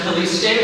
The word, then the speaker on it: Calixte: If you like what you see here tonight, you can pronounce it Calixte with a soft S.